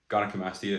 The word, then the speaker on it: gynecomastia: the risk of getting, gynecomastia. I think it's how you say it. Gynecomastia is actually how you say it, which is basically man boobs, and there's no shame in that at all.